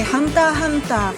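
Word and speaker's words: Hunter × Hunter: pour faité c'est faitité pour Hunter ex Hunter c'est hunta hunta ou Dragon Ball c'est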